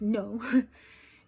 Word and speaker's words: Nau: That's spelled n au but it's pronounced no.